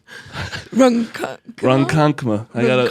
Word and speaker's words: Ronkonkoma: Ronkonkoma.